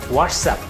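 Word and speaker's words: WhatsApp: একটু ব্যতিক্রম আছে সেই ব্যতিক্রমটা হচ্ছে WHATSSPACE UP হোয়াটসঅ্যাপ কিন্তু এইখানে মেইন উচ্চারণটা হচ্ছে লাস্টে সাপের মতো উচ্চারিত হবে যেমন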